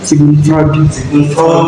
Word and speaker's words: Sigmund Freud: Bagaimana bacanya? Sigmund Freud ya.